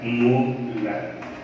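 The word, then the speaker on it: molar: लिख सकते हैं, और इनका प्रोनाउंसिएशन होता है मोलर।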